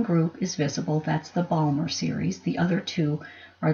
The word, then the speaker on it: Balmer: series is visible and that Balmer rhymes with Palmer and Mr Palmer is